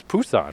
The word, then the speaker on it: Busan: It's Busan with a P.